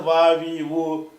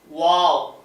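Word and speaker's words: واو: இது வந்து வா வி உவ்வு அதுக்கு பயன்படுத்துறது. சொல்லி காட்டுங்க. இது வந்து வா உதடுகள் ஓரத்துல சேர்ந்திருக்கும். நடுவுல ஓபனா இருக்கும். வாவ் வாவ் வாய் பாருங்க. வாவ் அதுக்கப்புறம் வந்து ஹாஹா ஹா என்ற ஒரு எழுத்து இருக்கு.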